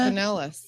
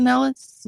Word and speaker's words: Pinellas: Pinellas. Is it pronounced Yeah. Pinellas?